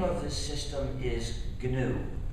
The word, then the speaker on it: gnu: you see the word gnu is the most humorcharged word in the English language used in countless word plays because according to the dictionary the G is silent and it's pronounced new.